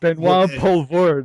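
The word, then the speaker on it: Benoît Poelvoorde: I hate pronouncing these names. I know. Benoit Benoit Poulvord, I was going Poulvord, who's absolutely phenomenal.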